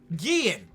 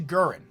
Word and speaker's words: Guerin: We got number 4, which is Richie Guillen.